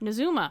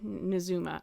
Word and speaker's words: Nazumah: South srima which would eventually become najima Zuma nazuma he does say it in his quote so we have uh pronunciation so nazumin nazuma okay nazuma uh where they could live free